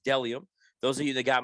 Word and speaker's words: Bdelliom: That's BDELLIOM, pronounced Delium.